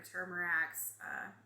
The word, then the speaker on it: turmeric: You've got your turmerics or turmeric, depends on who you are and how you say it.